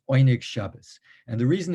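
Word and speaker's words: Oyneg Shabbos: the oinig shabbas group sometimes you'll see one shabbat which is the hebrew modern hebrew pronunciation but that's not quite right these were yiddish-speaking people yiddish-speaking polish speaking and they would have would not have called themselves pop probably one egg shabbat it's oynik shabas and the reason it's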